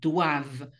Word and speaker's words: doivent: nous devons, vous devez, עם החיוך בסוף, ו-il, elle, הם, הן, doivent. אותו רעיון, ENT, לא מבטאים, אבל את ה-V, כן, il, elle, doivent.